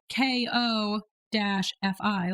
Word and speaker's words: Ko-fi: Coffee is spelled Ko-fi, like which Ko-fi.